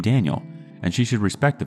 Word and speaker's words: Daniel: Ever since he was born, she's been calling him by the Spanish pronunciation of his name, with an emphasis on the N. Kind of like Daniel instead of Daniel, like I imagined.